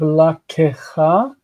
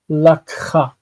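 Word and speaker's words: לָקְחָה: Instead of la kecha, ke, I know this is represented as a vocal shva, and it would be as far as like transcription and such, but we still say lakha.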